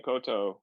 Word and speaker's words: koutou: Tēnā koutou.